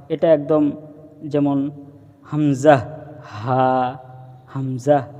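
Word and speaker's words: همزة: থেকে একদম উচ্চারণ করব হামজাহ হামজাহ হামজাহ এবং এই হামজা উচ্চারণের সময় কোন টান হবে না সেদিকে আমরা খেয়াল রাখবো তারপরে আসি ইয়া ইয়া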